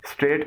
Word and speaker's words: state: کیفیت، صورتحال، ریاست، صوبہ۔ اس کی پروننسیشن یعنی تلفظ ہے اسٹیٹ، اسٹیٹ، اسٹیٹ۔ اس کو اسٹیٹ یا سٹیٹ نہ پڑھیے گا، اس کا درست تلفظ ہے اسٹیٹ، یعنی آپ بولتے وقت اس لفظ کا آغاز سین سے کریں گے نہ کہ الف سے۔ کچھ لوگ اس کو